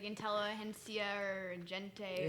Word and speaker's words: Intelligentsia: It's like Intelligentsia or Gente. Or something. Intelligentsia, that's right.